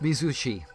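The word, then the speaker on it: Mizuchi: Pronounced Mizushi.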